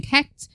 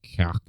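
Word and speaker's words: Cécht: I would assume it's Kecht. Joe, with the whole CH shit that we did. Like Irish, the CHs are pronounced like right down at the back of your throat.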